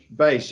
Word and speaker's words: Bache: Is that how you pronounce it? Bache. Bache.